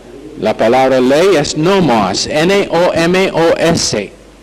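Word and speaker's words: νόμος: Ahora, la palabra ley es nomos, N-O-M-O-S, nomos. O si prefiere la pronunciación española, nomos.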